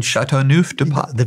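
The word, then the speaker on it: Châteauneuf-du-Pape: And my wife has bought me a bottle of this, how do you pronounce it again? Châteauneuf de Pape.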